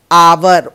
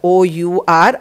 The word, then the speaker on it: hour: it is pronounced as our o u r our h is silent here and so we will